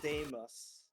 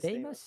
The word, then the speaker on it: Deimos: I think that's pronounced Deimos. It is Deimos, yeah.